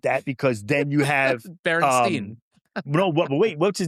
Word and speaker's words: Berenstain: Like people said the Berenstain Bears. It's Berenstain Bears. Right. But everybody thought it was Steen because just people said that.